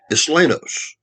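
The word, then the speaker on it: Isleños: That's a Spanish word. Islenos, pronounced Islenos.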